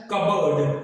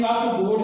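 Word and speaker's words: cupboard: अगला है कबर्ड, अब यहां पर ये कप बोर्ड जैसा दिखाई दे रहा है, लेकिन इसकी सही जो प्रोनाउंसिएशन है वो है कबर्ड, कप बोर्ड इसकी सही प्रोनाउंसिएशन नहीं है, सही प्रोनाउंसिएशन इसकी कबर्ड है। तो यहां पर भी P से पहले वाउल है, यहां पर भी P से पहले वाउल है, तो यहां पर P साइलेंट है।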